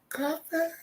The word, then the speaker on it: Copper: Extremely happy for Brittany Griner and Alicia Copper. It's spelled Cooper, but it's pronounced copper, so shout out to those doing.